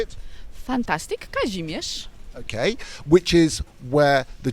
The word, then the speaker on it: Kazimierz: There's Kazimierz, if I got that anywhere right pronunciation wise. How do you say it? Fantastic, Kazimierz.